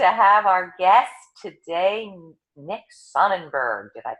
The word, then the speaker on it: Sonnenberg: so excited to have our guest today next Sonnenberg did I pronounce that right Nick yeah thank you you